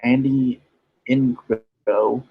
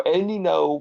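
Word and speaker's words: Andy Ngo: back in July 2019 it it's it's pronounced no because it's Asian I don't know works either yeah but well you know the G there kind of confused me so Andy know was a guy who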